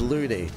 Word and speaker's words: Lunny: Mate, I've seen many people pronounce my other half surname is Looney. It's spelt Lunny.